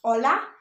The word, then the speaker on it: hola: as H, but actually in the Spanish language, H is always silent. So if you saw a friend and you want to say hello, how you say it is hola, but how you spell it is H-O-L-A.